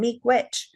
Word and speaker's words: Miigwech: Miguache. Miigwech is it's basically two syllables then. Miigwech.